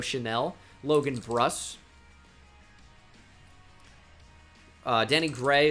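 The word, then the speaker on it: Chenal: wisconsin players we have leo chanel even though it's spelled chana leo chanel logan brus uh danny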